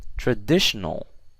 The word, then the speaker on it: traditional: do you guys think traditional yes that's correct the stress is on that de in the middle so it's not on trial not audition not a also traditional you see that